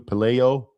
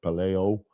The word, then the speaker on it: Pelayo: And it's better pronounced amongst the the people of his time and especially later as Pelayu Pelayo Pelayo.